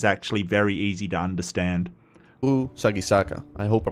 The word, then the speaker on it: Sagisaka: So this is sa gi sa ka, right? Like that's how it is sort of done.